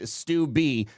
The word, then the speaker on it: Steube: By the way, Greg Steube is pronounced Steuby. #flowground. It's a native thing."